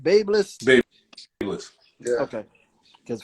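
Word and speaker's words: BaByliss: Babeless. Babeless. Yeah. Okay. Because for like a year straight, I called it babyless, but I'm stepping out of my zone.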